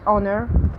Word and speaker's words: honor: Okay, we have silent H in the beginning of a word, like honor, hour, and we have it after W in WH words like when, where, what, why, while.